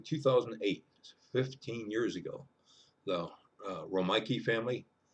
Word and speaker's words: Romeike: 15 years ago the rike family it's spelled like the city of Rome then Ike like a Ike Eisenhower put that together it's R ik ke the Riki family from